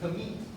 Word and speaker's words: gamete: Okay, so how do you pronounce that? Gamete.